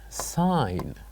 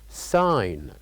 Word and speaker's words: sign: that silent letter is sign sign so by pronouncing this word we can know that we didn't pronounce the letter G so here in this case the silent letter is G sign sign and then